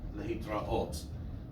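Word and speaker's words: להתראות: In Hebrew, the rule of thumb is that it's accented on the last syllable, shalom, lehitraot, right?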